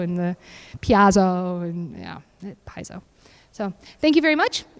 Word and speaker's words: Paizo: I'm like, oh, okay, because the Brits pronounce it Paizo and the Piazzo, and yeah, Paizo.